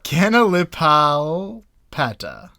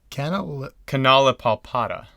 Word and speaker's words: Canalipalpata: I mean, these seem really phonetic, but they're so long and they have so many unfamiliar syllables that you get lost in the You weeds. just need to know when to put the accent.